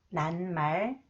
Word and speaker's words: 낱말: And this one, and 시옷, 지읒, combined with 미음, it is pronounced 느, 느, 느, 니은 사운드. 5명, 5명, 낱말, 낱말, 몇 마리, 몇 마리, 고기 몇 마리 잡았어요?